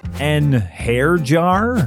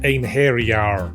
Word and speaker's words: einherjar: ones I can pronounce an hair jar it's pronounced Anar say tires it's satas